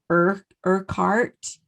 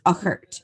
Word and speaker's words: Urquhart: And I'm saying it the way that it should be pronounced, but actually, if you were to read it, it almost looks like it's Urquhart. Right. But it's Uckert.